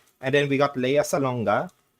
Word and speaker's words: Salonga: And then we got Lea Salonga. Yes, we say it with a hard G.